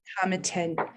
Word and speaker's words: Tomatin: And this is all about Tomatin, or some people pronounce Tomatin.